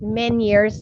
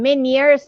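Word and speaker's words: Ménière's: so project yeah in many years how to pronounce i know many years disease okay or many years it's a french term actually okay so let's uh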